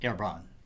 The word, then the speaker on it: Herbrand: as Ebron is French it should properly be pronounced herbron however most people resort to the angiz version